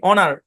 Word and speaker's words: honour: HONOUR উচ্চারণ কি? অনার।